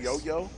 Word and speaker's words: Yo-Yo: haven't had a chance actually pronounce yo-yo right is that what we're doing yo-yo yes like duncan yo-yo like yo-yo the toys you said it you